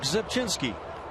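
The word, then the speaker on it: Rzepczynski: Well, you'd have to start with the R sound if you did on Zipchinski.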